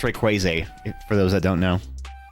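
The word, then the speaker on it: Rayquaza: I know you guys are always giving me about how I pronounce Pokemon names, but I say Rayquaz cuz he's like crazy, right? Ray Crazy.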